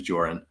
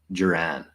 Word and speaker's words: Joran: my name's joran like my full name is joran and a lot of people also like who don't know the pronunciation they say Jiran just like Kiran so I I got